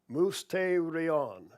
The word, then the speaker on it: mysterion: The primary Greek word translated as mystery is pronounced mysterion, It's Strong's number 3466.